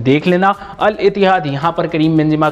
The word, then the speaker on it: Al-Ittihad: ALITIHAD pronunciation देख लेना, अल इतिहाद यहां पर करीम बेंजिमा का नया क्लब होने वाला है।